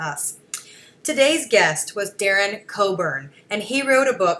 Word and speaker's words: Cockburn: do vote for him it's Darren Coburn but it's spelled COC kb u RN so make sure that